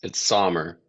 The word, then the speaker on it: Sommer: Is it Summer or Sommer? Close enough. It's Sommer, but Sommer. Okay. everybody goes with Summer.